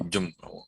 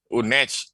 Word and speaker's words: Unej: Unjem. Unej. Bacanya.